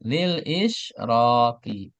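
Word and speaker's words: لِلإِشْرَاقِ: Perhatikan lil israqi. Dibacanya ki ya bukan ku bukan ka.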